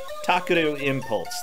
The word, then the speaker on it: Takeru Impulse: Okay, yeah, Takeru Impulse, that's how you say it.